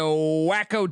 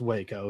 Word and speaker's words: Waco: 150 they head to wacko Texas to take on Baylor Baylor's plus 120 at Baylor ballpark uh Indiana starting picture he does know how to pronounce Waco he just prefers wacko well I mean they